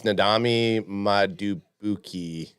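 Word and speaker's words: Nnamdi Madubuike: years went to Baltimore the off season it's nadam Muki that's exactly how you say it so uh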